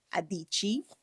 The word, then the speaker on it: Adichie: Adichie.